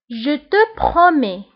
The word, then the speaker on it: je te promets: Je te promets. Je te promets. Je te promets. فبالنسبة je te promets كتنتهي بالتس ولكن لا تنطق.